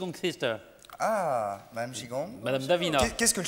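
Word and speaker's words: qigong: qu'on peut faire regardez ça s'appelle kigong comme ça mais c'est chigong qu'il faut dire chikong ouong ça s'écrit qui ça se prononce chi voilà exactement très bien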